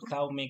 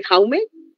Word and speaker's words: Jaume: una cosa, perdón, ¿cómo se pronuncia su nombre en catalán, Jaume o No, Jaume? no sé si es Jaume o Jaumé, porque creo que hay como un acentito raro en el catalán.